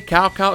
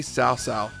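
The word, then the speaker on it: Cao Cao: Finally, CowCow is no longer CowCow. It's correctly South.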